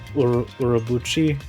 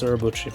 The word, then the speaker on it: Urobuchi: Gen Urobuchi is a Japanese Apparently it's Urobuchi. Yeah, but apparently it's Urobuchi.